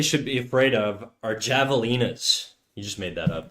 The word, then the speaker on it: javelina: We speak English. It's Javelina. The same way it's jalapeno. Alright? If we speak Spanish, I'll say ha, okay? The same way if we speak French, well, I'll just not pronounce the H.